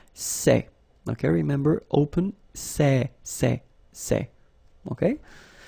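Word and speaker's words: ces: For the plural form, so masculine plural, it would be c'est, okay?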